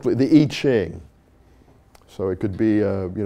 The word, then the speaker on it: I Ching: I-C-H-I-N-G. Am I badly pronouncing it?